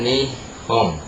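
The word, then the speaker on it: 日本: sini ada begini nah ini dibacanya ni Hong nihong ya nihong artinya Jepang Oke contoh lain sekarang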